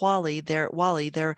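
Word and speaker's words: Whalley: It's not Wally. I actually had to look that up to see how it's pronounced. And they said you say it like Wall with an E on the end.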